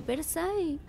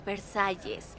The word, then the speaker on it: Versalles: cómo está la famosa familia de Versa de hecho se pronuncia Versalles y todos estamos muy